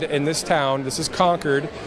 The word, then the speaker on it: Concord: this town this is conquered it's spelled Co n c Rd so it looks like Concord but it's actually conquered New Hampshire and and